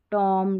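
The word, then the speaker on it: tomb: में, MB का combination, तो यहाँ पर B साइलेंट है। अब इसको बॉम्ब नहीं पढ़ते ना, बॉम्ब, कॉम, टॉम, डम और लैम, यानी M है ना वहाँ तक ही पढ़ना है, B का उच्चारण नहीं होगा।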